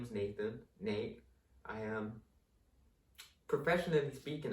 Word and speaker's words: Nathan: us like my name nathan n-a-t-h-a-n that little th might not make the that sound um in every country so that's why nate